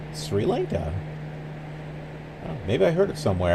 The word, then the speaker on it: Sri Lanka: I am saying it right yay it is Sri Lanka I couldn't think of another way to say it it just seemed like Sri Lanka maybe I heard it somewhere I don't know